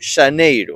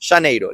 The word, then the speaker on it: Xaneiro: Todos los meses tienen su pues contraparte en gallego, y enero se escribe así, con X. Xaneiro, la X en el que se produce.